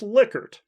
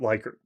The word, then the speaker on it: Likert: of dr lickard and he told me it should be pronounced liquor and not like her at any rate some